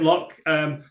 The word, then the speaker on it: L.O.C.: Is that how you pronounce it, L.O.C? Yep. Yep, L.O.C.